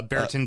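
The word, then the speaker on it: Brereton: player and I I his name is actually quite hard to pronounce uh Baron Diaz yeah but it's spelled like BR Britton which is see sounds like the knockoff version of Bridgerton so you I'm going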